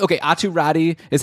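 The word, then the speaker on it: Räty: Okay, well, it's a little confusing because, yeah, you pronounce his name Atu Ratu in Finland, but the last time, like in the official NHL pronunciation guide, it is, like, it's spelled out or pronounced out as Ratti, which means that Art Atu has asked, like mentioned to North American Meat, like how do you want your name pronounced? That's what he's chosen.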